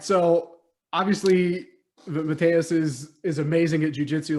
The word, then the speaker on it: Matheus: Your name is not Matthew, it's Matheus. The girl was looking at me, I was like, I was like, okay, Matheus.